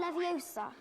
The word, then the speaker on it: Leviosa: Besides, you're saying it wrong. It's Leviosa, not Leviosa. You do it then if you're so clever. Go on. Wingardium Leviosa.